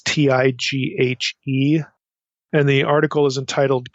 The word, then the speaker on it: Tighe: appears online by William, I don't know if you pronounce his name, Tighe or Tighe. It's Tighe.